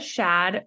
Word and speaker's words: Shad: Shad rhymes with Chad, who's the founder of Voidpet.